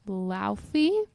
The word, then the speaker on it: Laufey: I have been listening to, I think the singer's name is pronounced Laufey.